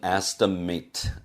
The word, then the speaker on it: estimate: The number is just an estimate. estimate가 아니고 estimate이라고 몇 번 강조를 했었죠. at로 끝나는 것이 동사가 아니고 명사, 형용사 혹은 부사로 사용됐을 때는 발음이 it로 난다는 점 마지막으로 강조합니다.